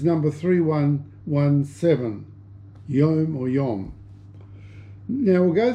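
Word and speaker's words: יום: believe is pronounced yon y o m e it's y o um WM is the Hebrew spelling but the pronunciation is Yom so we'll try and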